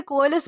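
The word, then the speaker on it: coalesce: दोस्तों इसे कोलिस प्रोनाउंस किया जाता है जिसका मतलब होता है एक होना, मिल जाना या फिर सम्मिलित होना।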